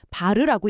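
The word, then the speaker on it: var: 단위는 외하필 bar 바르라고 읽죠.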